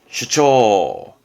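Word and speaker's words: 主張: 여기다가 이게 붙게 되면 뭔가 확장의 장이 돼서 무언가를 주장하는 뜻인데, 발음은 슈처.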